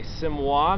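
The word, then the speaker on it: Siamois: And one type of folding knife that they offered, which is this guy here, is pronounced a Simois knife, and that translates into Siamese knife.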